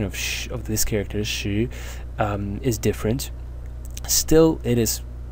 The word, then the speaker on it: 時: So that means that its pronunciation, si, points to the pronunciation of shi. Today, the pronunciation of si and the pronunciation of sh of this character, shi, is different.